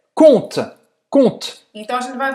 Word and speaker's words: conte: E a gente nunca vai falar esse E no final, tá?